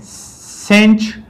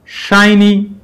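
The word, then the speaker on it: sinh: यहाँ पर जो साइन हाइपरबॉलिक है, इसको पाकिस्तान में सेंच प्रोनाउंस किया जाता है, और जो इंडिया में इसका प्रोनाउंसिएशन है वो शाइनी प्रोनाउंस करते हैं।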